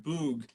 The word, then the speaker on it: bwg: Bug in Welsh is BWG, pronounced boog, which means goblin.